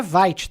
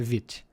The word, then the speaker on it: Vite: francês, mas mas a palavra é francesa, então a pronúncia não é white que a gente fala, é vit.